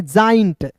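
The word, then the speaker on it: giant: GAINT को पढ़ दे दोस्तों, इसे गेंट नहीं पढ़ेंगे, इसे पढ़ेंगे जाइंट। ठीक है जी, क्या पढ़ेंगे? जाइंट। जे का उच्चारण ज के रूप में करेंगे जाइंट।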